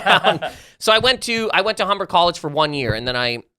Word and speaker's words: Humber: Humber, yeah. Okay. Go ahead. Wait, it rhymes with lumber.